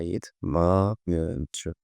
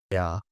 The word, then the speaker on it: ea: few minutes ago because in some words, "e" is pronounced like "yeah." I know it might sound strange, but if you speak to someone like this, eu mănânc, el, ea, el, ea, of course,